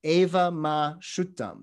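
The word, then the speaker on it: evaṃ me sutaṃ: written in pew script but the pronunciation is eva ma shuttum thus have i heard in pali and so again interesting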